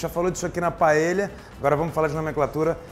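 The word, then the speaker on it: paella: ensinou que não se fala nenhuma hipótese paeja você tem que falar paelha o LL na Espanha vira lha LH pra gente então aqui pela mesma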